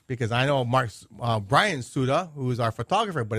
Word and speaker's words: Tsuda: And that's Tsuda? Yes, Tsuda. With a T. With a T. Because I know Brian Tsuda, who is our photographer, but it's just S-U-D-A.